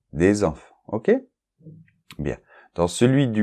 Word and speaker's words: des enfants: personnes pas de liaison mais des enfants d'accord et là on a la liaison à nouveau des enfants ok bien dans celui